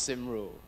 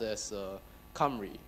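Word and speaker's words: Cymru: four minutes okay okay first off it's not pronounced sim rule it's Welsh and it's pronounced s Camry yes come really weird isn't it now let's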